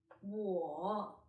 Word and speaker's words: 我: started third yes so it's a falling rising tone war war knee knee which tone